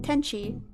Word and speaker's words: Tenshi: my name teni. So just like ten like the number 10 and then she teni.